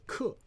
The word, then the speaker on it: 可: Now this one also has a different pronunciation called 克.